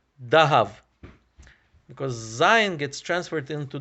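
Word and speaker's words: דהב: sound so for example the hebrew word for gold is zahav and in aramaic it's pronounced as dahav because zion gets transferred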